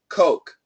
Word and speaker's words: Coke: so you have to keep that oh very clean coke coke buy me a coke buy me a coke yes absolutely keep the O do not make it anything but an O the longer the better I have heard uh